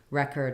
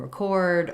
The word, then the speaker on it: record: six-week course as well not all nouns and verbs have first or last syllable stress patterns just some of the time and when it's spelled the same way like record and record or produce and produce or perfect and perfect um perfect uh suggestion and